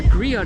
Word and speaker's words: griot: a Storyteller okay um you're pronouncing a Grio yeah g no tea on the end it's it's silent four groups of people